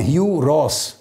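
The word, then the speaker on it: Hugh Ross: اس کا نام ہے ہیو راس۔ ہیو راس، ہیو کے سپیلنگ ہے HUGH، مگر پڑھنے میں ہیو ہے، ہیو راس۔ یہ یونیورسٹی آف ٹورانٹو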